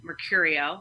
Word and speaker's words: Mercurio: danielle d-a-n-i-e-l-l-e and then mercurio like mercury m-e-r i-o m-e-r-c-u-r-i-o like